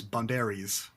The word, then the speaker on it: boundaries: boundaries right phonetically B but it turns out it's phonetically it's bounderies sounds like Antonio bere star of the the Shrek films the Shrek spin-off movies and nothing else oh